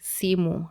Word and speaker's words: simu: A phone in Swahili would be simu. How you write simu is SIMU. And that's a 2-syllable word, simu. And as you just read it as you write it.